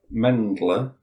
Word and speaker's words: Mendler: Mendler. Mend. As it's spelled. Mindler.